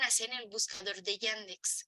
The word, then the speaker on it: Yandex: en el buscador de yandex se escribe y y a n d e x yandex así como se escucha Incluso si lo escriben